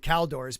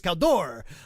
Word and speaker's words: Caldor: I had accent mark no one ever pronounced it correctly they said cow doors but I'm pretty sure was Caldor um yeah I used